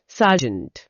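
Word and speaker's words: sergeant: सार्जेंट। सार्जेंट एस ई आर जी ई एन टी। इसमें शुरू में सर है और आखिर में जेंट है जिसका उच्चारण जेंट जैसा होता है।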